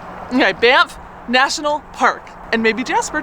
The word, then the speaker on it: Banff: How do you say that? Banff? Banff. With an M? Banff? With an F. Okay, Banff National Park.